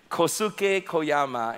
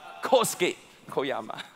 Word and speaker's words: Kosuke Koyama: to say it right, I would say Kosuke Koyama, and then Naomi, our wonderful Japanese staff, say, "Pastor, that's wrong, it's Kosuke Koyama."